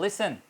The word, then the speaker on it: listen: For example LISTEN, अब T silent हो गया क्योंकि ई से पहले वो यूज़ हुआ किसी भी वर्ड के अंदर। तो लिसन, अब देखें बिटवीन द वर्ड ये टी साइलेंट हो गया।